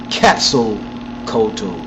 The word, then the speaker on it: Quetzalcoatl: Thought was known as the plumed serpent, and it's pronounced Quetzalcoatl.